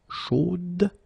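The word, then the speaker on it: chaude: So here you pronounce the final D, whereas in the masculine form, you don't pronounce it.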